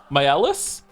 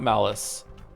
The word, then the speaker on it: Maelis: By the way, my name is pronounced same as Mael, but with a different ending. They are Maelis?